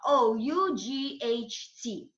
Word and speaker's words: ought: So, and the root is O-U-G-H-T. So what and is read as is pronounced, sorry, as ought, ought.